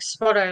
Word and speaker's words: Spotto: Well, in SPOTO, like Spotto. Like whenever you see a yellow car, you say See, I thought you were saying sputter.